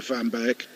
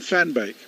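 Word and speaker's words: van Beek: worked out hard to accept M's guidance on the pronunciation for fan bake uh and it is that he goes like a Dutch Alin and a Dutch Alin of course can fan bake there you go oh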